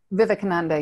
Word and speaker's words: Vivekananda: Vivekananda? Vivekananda, yeah.